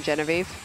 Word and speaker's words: Genevieve: that's good Genevieve jean-pierre I prefer the French French pronunciation but when I first